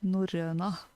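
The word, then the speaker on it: Norrøna: I'm unable to say that in in the British way of the word. I do have to do it in the Norwegian way. Yeah, I don't really know how to pronounce it correctly. Yeah, it might be because it's spelled in English, so I want to try to pronounce it like that. But for me, it's Norröna.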